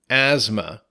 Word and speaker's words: asthma: word is asthma that's a-s-t-h-m-a asthma so be careful the th is silent in this and it almost sounds like a z a little bit asthma it's a long-term